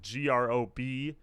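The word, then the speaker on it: Гроб: The other thing, too, that people pointed out is that GROB is just coffin in Russian. So no one says their band name as GROB.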